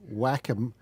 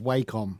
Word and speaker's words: Wacom: noticed this time around you've said both pronunciations i'm switching because i don't know behind why you say whack em instead of wacom i'm switching back and